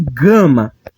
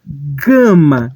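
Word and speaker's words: γάμμα: exatamente ao que porém a sua pronúncia não é como girafa e sim como em gato gato O Gue vai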